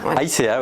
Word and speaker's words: Aïzea: Aïcea, oui, au Pays Basque, on dit vraiment toutes les lettres en fait.